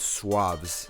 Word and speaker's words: SUAVS: in a long time the brain is called swabs now that's spelled su a V s and yeah made